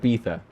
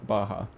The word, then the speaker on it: beatha: So it looks like Beetha. So that's spelled, but it's pronounced Baja.